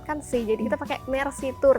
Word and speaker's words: Meersea: si Jadi kita pakai Mercy tour tapi kalau secara pengucapan kan seperti bahasa Perancis ya Mercy Terima kasih gitu jadi ee itu sih